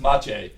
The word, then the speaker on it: Matej: Well, speaking of names, when people read in the News Times Mache, your name is spelled Matej. That's true. Pronounced Mache.